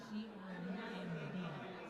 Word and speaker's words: Crumb: C-R-U-M-B. C-R-U-M-B. And it's pronounced? Crumb, like crumb.